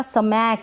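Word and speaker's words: smack: ये जो S है ना इसका स्मैक ऐसे करके इसको प्रोनाउंस नहीं करेंगे, इस S को हम आधा ही बोलेंगे, आधा प्रोनाउंस करेंगे, पूरा सा नहीं बोलेंगे।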